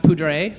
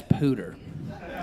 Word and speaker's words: Poudre: it should be pronounced Poudre, French. It was named after the Cache-la-Poudre River in northern Colorado. But in northern Colorado, we pronounce Poudre as Pooter, which is like redneck slang for vagina.